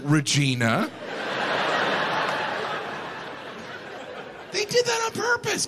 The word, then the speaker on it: Regina: The capital is Regina? That's not necessary. Regina. They could have pronounced it Regina.